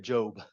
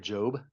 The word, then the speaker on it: Job: the Bible story of Job j o it's not job by the way though it's spelled the same um but it very